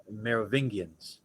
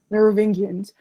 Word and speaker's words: Merovingians: Merovingians. Merovingians.